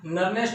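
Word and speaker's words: Nernst: Actual में इसको दो तरीके से प्रोनाउंस किया जाता है। कुछ लोग इसे नर्नेस्ट इक्वेशन कहते हैं और कुछ इसको नर्म्स कहते हैं। मैं इसको नर्म्स कहना पसंद करता हूँ।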